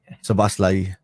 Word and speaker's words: Szoboszlai: But I think Gabor says I'm pretty close anyway with that pronunciation. Szoboszlai.